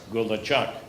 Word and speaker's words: Gulachok: could please indulge me repeat after me good luck Google Chuck go with Golan Chuck garbage truck good luck garbage truck gula Chuck woodchucks